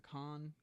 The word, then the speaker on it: Cannes: Am I pronouncing that right? Cannes The Con.